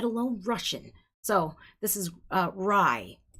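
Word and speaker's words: Grai: All right, Gray, and it's spelled really weird, y'all. G-R-A-I. Rye. It's rye. It's actually rye. G-R-A-I. The G is silent.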